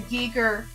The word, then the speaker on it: Giger: Giger.